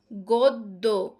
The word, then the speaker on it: গদ্য: গদ্য। গদ্য। এখানে কিন্তু দটা দুইবার হয়েছে। কেন? কারণ জফলাটা শেষে আছে। তাহলে গদ্য কিন্তু শব্দের মধ্যে বা শেষে ব্যঞ্জনের সঙ্গে জফলা এর কোন উচ্চারণ হয় না।